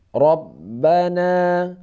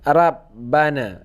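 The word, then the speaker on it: رَبَّنَا: nah ini contoh yang berbaris di atasnya roh Robbana Robbana Jadi dibacanya bukan Rope bukan robbanaa bukan Arab Bana kar by Rope Rope Rope agak diantara ada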